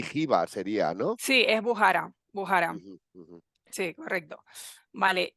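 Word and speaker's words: Bujará: contado Hugo sí la la la cach la pronuncian J no bujara y jba sería No sí es bujara bujara sí correcto vale e y bueno al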